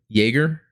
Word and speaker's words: Jaeger: Since the last podcast, I have the Gelgoog Jaeger, I believe really is the pronunciation.